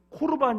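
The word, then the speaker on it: 코르반: 드림 이라는 뜻을 가진 코르 반 이라고 부르는데요 이제 마가복음 에서는 오르 반이라고 이렇게 음력을 했습니다 원래 히브리어 발음은 코르 바입니다 예수님 당시의 자식들이 이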